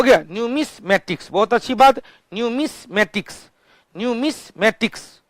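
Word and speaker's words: numismatics: न्यूमेटिक्स, न्यूमेटिक्स सिक्का का अध्ययन, न्यूमेटिक्स स्पेलिंग याद रखेंगे, न्यूमेटिक्स स्पेलिंग होता है NOO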